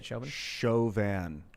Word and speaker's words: Chauvin: the shavin trial shoving trials that you say chauvin i think is the pronunciation or chauvinism morgan byrne says the fur